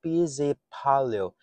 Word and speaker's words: pesäpallo: In Finnish pronunciation, Pesäpallo, literally meaning nest ball or Swedish bubble, colloquially known in Finnish as pieces and also referred to as a Finnish baseball.